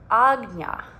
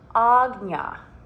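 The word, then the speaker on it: आज्ञा: This in Sanskrit is pronounced Ājñā, Ājñā, and this means perception or command.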